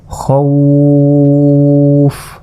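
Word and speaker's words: خوفًا: সেটা হচ্ছে দেখুন এটা বানান করি, খ অজবর খও, ফা দুইজের ফিন, এভাবে আমরা পড়েছি খও ফিন। কিন্তু এইখানে যদি আমরা ওয়াকফ করি তাহলে বলতে হবে খৌফ, 3 আলিফ পরিমাণ টেনে পড়লাম, কারণ আমরা এখানে নিঃশ্বাস ছেড়ে দিয়েছি খৌফ।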